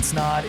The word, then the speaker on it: Snaadt: My name is Snaadt. It rhymes with odd, and you're listening and watching the Rhymes with Odd podcast.